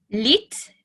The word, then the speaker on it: lit: So like with most pronunciation in French, it doesn't get pronounced at the end. The T and the S are silent, hence why it sounds like I'm saying li all the time.